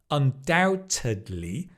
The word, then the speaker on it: undoubtedly: Okay, then you can say uh it's undoubtedly because du du du du it's undoubtedly. Notice doubt you don't pronounce the b undoubtedly.